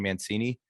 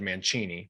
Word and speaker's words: Mancini: Like when we went to Italy, everyone said Mancini, which is how you'd pronounce it. But at this point, we've been in America long enough. It's been Americanized. Yeah.